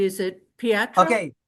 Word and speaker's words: Pietro: Is it Pietro? Okay, it's Pietro. Pietro.